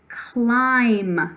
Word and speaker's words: climb: it in writing somewhere because it does have a silent letter at the end of it okay so give it